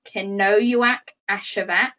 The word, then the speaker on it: Kenojuak Ashevak: was about fourteen or fifteen years old so cano act ashevak say her name again cannoywack ashevak her family moved from camp to camp depending